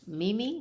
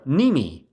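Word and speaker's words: Mneme: Mimi? No. Nimi. The M is silent, like as a mnemonic.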